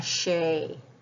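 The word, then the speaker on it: sé: tosa s e father it's a slender e so it's shh a Shay full pronunciation broad d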